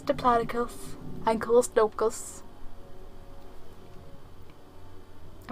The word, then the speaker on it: Diplodocus: product aside yeah cuz I I've borne a pronounced Diplodocus it's Diplodocus and cold smoked goose I mean that would